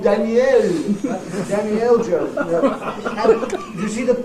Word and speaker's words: Daniel: him not Daniel but make that e in this last syllable into a clear vow instead of reduction right if they actually make a then Daniel Jones sounds like as if the Danny is his first name and L is his